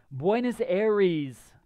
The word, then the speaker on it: Buenos Aires: Buenos Aires.